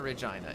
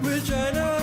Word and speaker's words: Regina: Regina, experience Regina. Regina, experience Regina. The city that rhymes with fun.